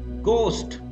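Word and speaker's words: ghost: English में बोलते हैं गोस्ट याद रखना इसमें एच साइलेंट होता है गोस्ट कहा जाता है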